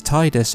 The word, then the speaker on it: Tidus: enough on this occasion his name is pronounced as Tidus instead. However, this does seem to be something of an exception to the official pronunciation.